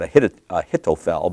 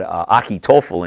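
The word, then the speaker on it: Ahithophel: Some people would pronounce that Ahitophel, but Achitophel in Hebrew, the Gilonite, who's David's counselor.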